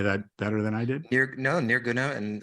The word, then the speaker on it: Nirguna: and you can help me with the pronunciation, Nirguna Brahman and Saguna Brahman, right? Yes, that's right. right. I say that better than I did? Nirguna and Saguna is good.